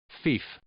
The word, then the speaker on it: fief: do with discipline anyways what's the word pronounced as Thief say it again Thief say it a different way Thief okay so the word